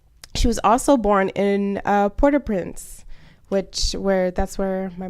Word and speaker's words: Port-au-Prince: was also born in port-au-prince which where that's where my mom was born so or or my mom said not to pronounce the T so I guess it's supposed to be poor poor Oh posts I was